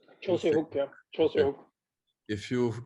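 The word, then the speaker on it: Joo Se-hyuk: find the Schlager against Joo, how do you pronounce his name? Jose Hook? Jose Hook, yeah.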